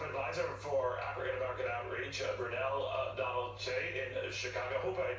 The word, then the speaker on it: Brunell-Donald Kyei: It's Brunell-Donald Kyei.